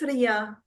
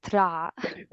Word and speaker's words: Ra: Later in Coptic, I think it's Ria. I think it's Ria, quite Ria. consistently Ria in at Well, least the here 18th dynasty. Here in Egypt, we call it Ra. This is a different pronunciation.